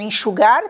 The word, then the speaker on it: enxugar: A palavra enxugar tem 3 sílabas, enxugar. E como é que nós contamos as sílabas? Para sabermos qual é a última, qual é a penúltima, antepenúltima. Nós contamos da direita para a esquerda. Então, contamos assim: última, penúltima, antepenúltima. Neste caso, a sílaba que se lê com mais intensidade é esta última. Por isso, quanto à classificação, é uma palavra aguda.